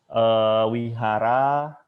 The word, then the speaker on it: vihara: sang-ho sang Gangnam Mami aksara V kita baca W seperti kata wajah Wihara tehera wadah itu kita baca weh Jadi kalau ngikut pemerintah